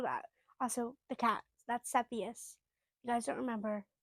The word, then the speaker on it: Cepheus: That's Cepheus. You guys don't remember. Cepheus is his name. A lot of people don't know how to pronounce it. Cepheus.